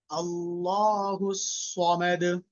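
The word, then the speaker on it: الله الصمد: Allahu samad. Very good. Say it again. Allahu samad. Whenever we are pronouncing letter Sad, we need to pronounce it with a thick sound.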